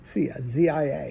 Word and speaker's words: zia: my Aunt my aunt Anita siita that's how you say it in Italian Zia Cita I said c